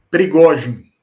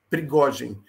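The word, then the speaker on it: Пригожин: Como é que pronuncia o nome dele em russo? Prigogine. Prigogine.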